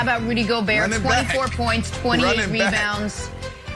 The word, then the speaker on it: Gobert: Also, guys, important to note, fun fact, in French, Rudy Gobert is pronounced Rudy Gobert.